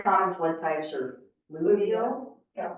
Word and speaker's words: fluvial: and I'm sure as engineers, y'all can probably pronounce this better than me. There's the 3 common flood types are fluvial. Yeah, fluvial.